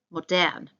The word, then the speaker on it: modern: Modern is a cognate, so it looks the same. However, we need to pronounce it a bit differently. Modern.